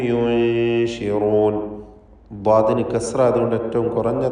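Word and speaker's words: يُنشِرون: യു, ആ യു എന്ന ശബ്ദം ഉച്ചരിച്ച് പിന്നീട് നൂനിനെ ഉച്ചരിക്കുമ്പോഴേക്കും ചുണ്ട് അതിൻ്റെ തർക്കീഖോട് കൂടിയുള്ള നൂനിൻ്റെ ഉച്ചാരണത്തിലേക്ക് കൊണ്ടുവരണം. പിന്നെ ഷീനാണ്, ഷീനിൻ്റെ മഖ്റജിലേക്ക് ശബ്ദം വീണ്ടും മാറുന്നു. യുൻശിറൂൻ.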